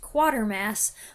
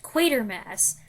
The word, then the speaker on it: Quatermass: talked about how I always thought it was pronounced quarter Mass but now I know it's pronounced quater Mass okay so I finally get used to saying